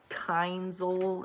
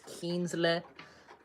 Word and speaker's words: Kienzle: And uh Kienzl is Kienzle.